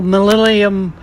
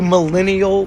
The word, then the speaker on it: millennial: You little millennium. So just go, you millennial bitch. You millennium bitch. You millennial bitch. You millennium bitch. Millennial. Oh, gives a shit away. No, you gotta say it right.